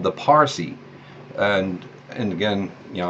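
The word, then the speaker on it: Parsee: Now, even in India today, you find some peoples called the Parsi. And again, you know, I'm going to say it that way. It's spelled P-A-R-S-E-E in terms of our language anyway.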